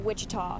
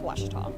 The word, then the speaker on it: Ouachita: wish tall oh university back in texas everybody pronounces it wichita but really it's ouachita washington washington how would you pronounce it it's